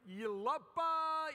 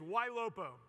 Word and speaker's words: YLOPO: so I get like you lapa Lobo no one can pronounce it it's Y Lupo it's the last five letters of the word monopolies the ultimate game of